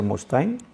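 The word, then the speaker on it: Mustaine: nombre de dave mustain most time se escribe una de la pronunciación debe ser mustain louis dice que sé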